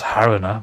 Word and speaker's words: Haruna: a harina i think it's haruna right it's not haruna because that's english but yeah ooh what